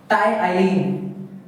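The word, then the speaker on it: ptyalin: आप सोच रहे हो इसमें प है मैं इस पुना गलत कर रहा हूं लेकिन नहीं इसमें जो पी वड है वो साइलेंट होता है इसलिए हम इसे कहते हैं क्या टाइ अब देखिए जो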